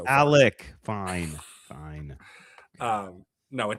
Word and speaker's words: Alec: said they want to resign him, but that Alex Pierce is worth 25 million dollars? Are you guys nuts? He is so underrated that Brandon's gotten his name like name wrong like 19 times so far. Alec.